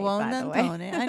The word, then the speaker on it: Buonantony: Buonantony.